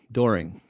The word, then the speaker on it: Doehring: I pronounce it the same way you do, Doehring.